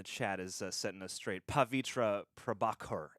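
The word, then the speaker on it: Pavitr Prabhakar: is setting us straight pavitra prabhakar is the Indian pronunciation shut up John shut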